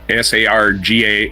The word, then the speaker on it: Sargassum: Sargassum. Sargassum. Expansion across Sargassum. It's spelled like that.